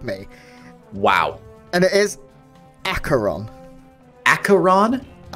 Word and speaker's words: Aqueron: mate to help me wow and it is acaron acaron it's not aqueron that's what I used to say and kic